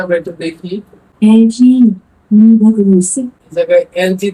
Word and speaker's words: Liebe Grüße: এলজি মানে এর উচ্চারণটা আমরা একটু দেখি। LG. Liebe Grüße.